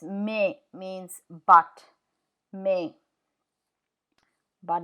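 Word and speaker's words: mais: Thea m a i s me means by may but it's with the timea so it'll be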